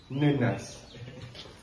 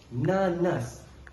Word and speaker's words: nanas: Air nanas. Kau pergi nenas. N a s nenas. Bukan. Berapa kali dah kita perbincangkan nanas. N a n a s. Nanas. Syukri.